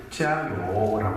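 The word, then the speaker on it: 加油: 중국말로는 짜요라고 인사를 합니다. 요자는 기름 요자고 지아는 더할 가자를 그렇게 발음합니다.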